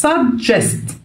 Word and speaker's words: suggest: الجي الاولانيه بتنطق زي الدي كده suggest، اوكي، لكنها دي، اوكي، suggest.